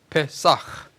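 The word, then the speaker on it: פסח: 히브리 말로 페사흐. 요 끝에 요 점을 하나 찍은 것은 요 글자가 좀 그냥 페사가 아니고 페사흐 발음을 나게 하는 그런 발음 기호예요.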